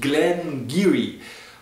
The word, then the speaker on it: Glen Garioch: aus der Brennerei glenar es schreibt sich zwar glenaroch aber es spricht sich gleniri und zwar ist gleniri